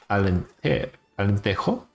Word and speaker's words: Alentejo: South Germans recently in Alentejo. Is how you pronounce it in Portuguese.